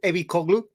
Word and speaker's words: Ebicoglu: Yeah, how it's pronounced. Sorry, you can say it. Ebicoglu.